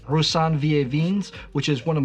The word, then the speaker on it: Roussanne: Yeah, then you need to blend the two, the and the oo. Roussanne.